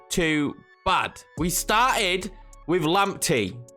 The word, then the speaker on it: Lamptey: bad we started with lamptey that's how I'm being told to pronounce his name now if you have